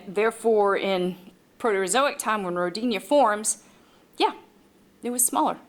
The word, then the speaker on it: Rodinia: And eventually, these small cratons from the Archean would come together to form Rodinia, or Rodinia, if you prefer the British pronunciation.